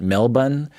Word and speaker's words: Melbourne: It's spelled Melbourne, but I understand you're supposed to pronounce it Melbourne.